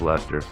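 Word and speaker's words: Leicester: on our list Robert Dudley uh Earl of Lester and after those of you who are not British uh this is spelled this building yeah but it's pronounced Lester I really we gotta we gotta start a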